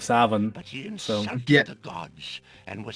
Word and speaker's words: Samhain: Well, way to butcher the fucking pronunciation of Savin.